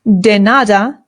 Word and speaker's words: de nada: In Spanish, it is de nada. De nada. De nada. Remember that the D in Spanish is much softer than it is in English. So this is not de nada, it is de nada.